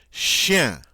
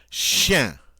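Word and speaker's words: chien: chef uh Shen okay this is like you're saying the word the syllables she yeah but you say I'm real fast and this is a one syllable word so when you do it right it comes out uh Shen and of course that's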